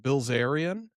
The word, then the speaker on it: Bilzerian: Bilzerian?